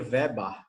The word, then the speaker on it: Weber: Ó, então esse daí é Max Weber, né? No alemão seria Weber. O ER tem som de AR, né?